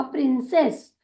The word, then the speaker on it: princess: पहले ही बताया कि जब कभी भी सी इस अक्षर के साथ ई या आई या वाई लगकर आता है तो उसका उच्चारण होता है स के रूप में, इसीलिए PRINC हो जाएगा प्रिंस। ई के साथ जुड़ते हुआ हुआ प्रिंसेस, प्रिंसेस।